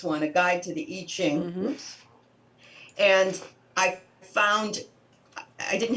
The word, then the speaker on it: I Ching: into doing eating it's itching it's it's i say it's spelled i ching but it's itching yeah it's the iching